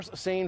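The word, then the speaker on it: seine: derived from um per sane fishing so we know uh sane is spelled s-e-i-n-e like the river send over in France we pronounce same boats sane boats right and what they used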